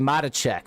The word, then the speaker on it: Matacek: Joshua, it's actually Matacek, so it's like like the applesauce.